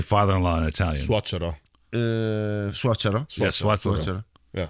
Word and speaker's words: suocero: Suocero.